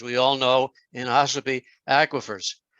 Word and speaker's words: aquifers: all know, in Ossipee, aquifers, or aquifers, as some people pronounce it.